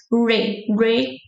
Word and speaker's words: requeijão: Because usually the R's in English, they have the ra sound. So you would pronounce requeijão. Requeijão. But the trick in this word is the R's are in the beginning of the words, they sound like H in English, like he is.